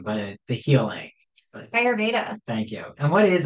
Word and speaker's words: Ayurveda: work and you're going into, remind me the pronunciation, but the healing. But Ayurveda.